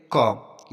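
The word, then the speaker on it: comb: next example देखते हैं कॉम यहां पर भी देखो एम के बाद बी आया है तो इसको बी हमारा साइलेंट रहेगा इसको कॉम पढ़ेंगे नेक्स्ट एग्जांपल देखते हैं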